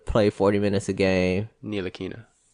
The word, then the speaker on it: Ntilikina: Let Tilakina play 40 minutes a game. Ntilikina. The T is silent.